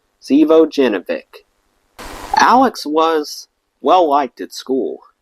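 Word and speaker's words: Živojinović: at the time shy couldn't say this guy's Serbian last name calling him savovic in fact of all our friends only I seem to be able to pronounce it correctly Alexander Zeo jevic Alex was well-liked at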